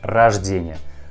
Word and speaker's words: рождение: Pay attention that word рождение has a second letter O, but we also pronounce this letter like A. Рождение, not рождение. We pronounce like рождение.